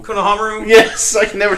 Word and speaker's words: Konohamaru: to believe they're all at War but where's Kor ramaru Konohamaru yes I can never say his name right